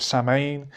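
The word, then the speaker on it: Samhain: date back to the ancient celtic festival of saman pronounced so we oh so in have i been oh i'm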